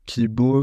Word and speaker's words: Qi-Bô: Hélène Nal-Martin, donc cofondatrice de Kibo, cela s'écrit en 2 mots et ça s'appelle Q-I, plus loin B-O, accent circonflexe. Cela sonne comme le mot espoir en japonais. En fait, Kibo en japonais, Ki-B-O, donc